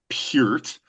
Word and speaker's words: Peart: We're going to talk about this song that you did, this tribute you did to Neil Peart.